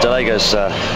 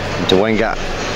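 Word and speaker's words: Dołęga: Yeah, Delega's leading. Dewanga. Dewanga? No, Dewanga. Dewanga. I've had Polish training, David. It's spelled with an L, but it's Dewanga, definitely.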